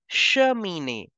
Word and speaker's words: cheminée: There is CH, so we have to make the sound of sh. And in the end, there is accent over the E, so we have to pronounce it as A.